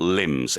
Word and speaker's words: limbs: Wall Street journalism yeah we talk about limbs l-i-m-b but the B is silent um and that refers